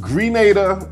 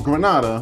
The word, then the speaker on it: Grenada: The island can be pronounced Grenada or Grenada when Spanish people say it.